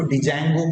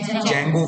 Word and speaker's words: Django: इसमें आप ध्यान रखना, स्पेलिंग जो है डी से स्टार्ट होती है तो इसको डिजैंगो प्रोनाउंस नहीं करना है, डी साइलेंट। ठीक है, तो आप क्या बोलेंगे? जैंगो framework.